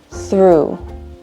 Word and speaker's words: through: Sound number 2, ooh, like through. Repeat after me. Through. You hear that long ooh sound, like in boo or shoo?